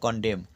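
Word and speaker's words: condemn: সি ও এন ডি ই এম এন এন উচ্চারণ নেই তাই কনডেম অর্থাৎ নিন্দা করা এইচ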